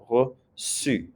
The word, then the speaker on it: reçu: You have to add an accent to that C because it's followed by a broad vowel, U. Only I and E make this into a S sound. If it's a U, A, or O, it's a K sound. So if you put that accent there, you don't have to worry about it. It'll be the S sound again, reçu.